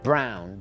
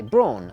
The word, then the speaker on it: Braun: Apparently the correct way is to pronounce them is Brown, but here in England we say Braun, you know, tomatoes and all the rest of it.